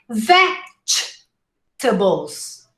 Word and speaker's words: vegetables: remember the song diamonds vegetables vegetables vegetables okay and don't say vegetables imagine there's an imaginary d before pronouncing the g all right veg vegetables